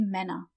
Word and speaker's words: Männer: So, der Mann, die Männer. And we pronounce the ER at the end kind of like an A, die Männer.